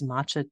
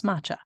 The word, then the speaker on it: matcha: helped with that is matcha te did I say that right I always say it wrong it's not matcha yeah it's matcha mat a t c ha um it's a green